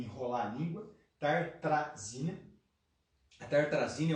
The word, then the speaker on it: Tartrazina: Tartazina. Perdão, me ajuda. Tartrazina. A Pri está me corrigindo aqui, obrigado, querido. Tartrazina, estava pronunciando errado já.